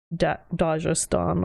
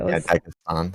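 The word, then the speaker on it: Dagestan: He says Dajastan instead of Dagistan, but then at the end the lady says Dagistan. No, she said yeah Dag Dagan or something and then the guy was like Destan or something. Yeah, Dagistan.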